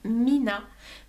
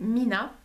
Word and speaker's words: Mina: en fait ce produit de alors ça se prononce Mina mais il le il écrivent trois Ina Tha donc au début je savais pas trop comment le prendre mais en fait c'est Mina et c'est le stick 244 de no rose